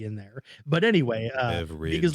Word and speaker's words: Beveridge: Beverage like a drink, but it's BEVERIDGE. I figured there was probably a D in there. But anyway, Beverage.